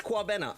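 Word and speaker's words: Kwabena: Oh, I was saying it right, but it's Quabena. Okay. Did I say it right that time? Quabena, yeah? Quabena.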